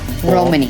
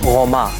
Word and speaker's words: Roma: We call ourselves Romani. Roma. It's the way we pronounce it.